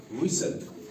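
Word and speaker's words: whistle: हैं कैसल कैसल जैसे इसी तरह से नेसल विसल डब्ल्यू एच आई एस टी एल इ विसल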